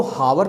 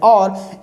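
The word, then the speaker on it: hour: इसी तरीके से एन और, देखिए एन एच ओ यू आर, इसको हावर तो हम पढ़ते नहीं, इसको हम पढ़ते हैं और, एच होता है साइलेंट, तो इसलिए यहाँ पर एन का यूज हुआ।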